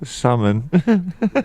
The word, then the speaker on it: salmon: Like for dinner tonight we had salmon. Yeah, salmon. You pronounce that L, and then like afterwards I will have some herbal tea.